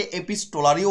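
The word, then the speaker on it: epistolary: এটা যে ফর্মে লেখা হয়েছে খুবই বিখ্যাত ফর্ম, ফর্মটার নাম হচ্ছে এপিসোলারি ফর্ম। কি নাম? এপিসোলারি। এই এপিসোলারিকে অনেকে এপিস্টোলারিও উচ্চারণ করে। ঠিক আছে, এপিস্টোলারি উচ্চারণ করলেও ভুল নয় কিছু, আমাদের ইন্ডিয়ান প্রোনাউন্সিয়েশন ওটা।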